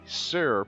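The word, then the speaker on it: Tser: back to the east the sir pool which is spelled TS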